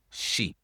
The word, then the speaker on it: sheep: Mais sheep, le vowel E, c'est long. Donc, tu prononces vraiment long le vowel. Sheep.